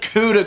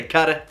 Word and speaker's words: CUDA: the 1080 is the cuda cores or cut of cores depending on how you say it I say CUDA you might say cut it really doesn't make a difference in my opinion but the GD x